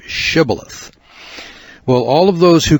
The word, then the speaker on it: shibboleth: that verse shows that ephraimites had trouble pronouncing their h's so they would mistakenly pronounce it sybileth instead of shibboleth well all of those